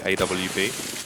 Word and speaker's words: AWP: Because they pronounce WV. Yeah, they say AVP. But that's incorrect, Jake. That's Alien versus Predator. The Arctic Warfare pistol, not. Exactly. It's an English gun. You pronounce it with a W, son.